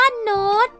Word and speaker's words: โน้ต: อ่ะ จะ ทำ ว่า โน้ต ก็ เช่น กัน นะ คะ ต้อง เขียน ใน รูป โท เพราะ นอ เป็น อักษร ต่ำ ต้อง เขียน ใน รูป โท แต่ ให้ อ่าน ออก เสียง เป็น กรี นอก จาก นี้ ยัง